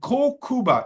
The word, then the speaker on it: Kokuba: And Kokuba is the Okinawan way to pronounce Kuniba.